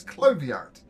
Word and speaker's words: Clart: clart there we go I know how to pronounce my name it's clart um look look i